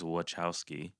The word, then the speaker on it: Wachowski: According to interviews done by Lana, the pronunciation of the last name is Wachowski.